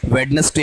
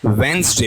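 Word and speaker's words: Wednesday: वो पुराने जमाने के दिन लद गए हैं, वेडनेसडे नहीं होता, क्या होता है, वेंसडे होता है।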